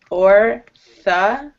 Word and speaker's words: Orthodox: You have like three different O sounds in this word, so it's a little tricky. Orthodox.